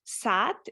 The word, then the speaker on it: saat: Saat is, how do you say it in Turkish though? Saat. So 2 A's we have, saat. Yeah, which is kind of long here as well. We don't say sat, but like saat.